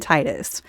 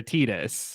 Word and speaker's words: Tidus: a Titus or a Titus I'm a Titus you're a Titus okay I I always said it Titus in my in my brain like because it's like the tide like he's Water Theme